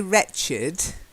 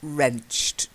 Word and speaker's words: wrenched: The first word is wrenched. Although we say wretched, and I think that's what you thought it was at first, wretched, but it's wrenched.